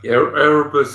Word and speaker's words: Erebus: Yeah, Erebus and Terror, the two ships that went up to the Northwest Passage in the 1830s.